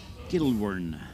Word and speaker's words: Gilwern: Gilwern.